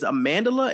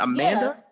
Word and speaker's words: Amandla: So her name is Amandla and not Amanda. Yeah. It's Amandla. It's Amandla.